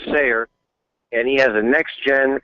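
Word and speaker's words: Steyer: a tycoon named tom i think he pronounces his name sayer and he has a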